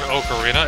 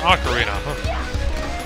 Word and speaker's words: ocarina: you hell you want to pronounce it I pronounce things differently than everybody else it's not an okarina it's an Ocarina I don't what kind of drugs you are